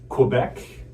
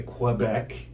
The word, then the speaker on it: Quebec: Quebec, a lot of people say Quebec rather than Quebec. right? The more Yeah. k sound. We stress more of a QU sound in English parts of Canada.